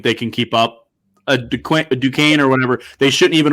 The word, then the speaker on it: Duquesne: DeQueese, is that correct? Duquesne. Yeah. Duquesne. Oh, yeah, it's definitely Duquesne.